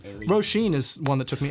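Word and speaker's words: Saoirse: so many kids i really liked the name rosheen is one that took me ages to figure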